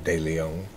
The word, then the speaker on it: De Leon: DeLeon. That's my name. Well, I mean, technically it's De Leon. Well, I like to pronounce it that way because it rhymes with the other ones.